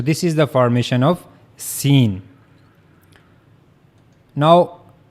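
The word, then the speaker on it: سين: So that's how you can easily pronounce scene.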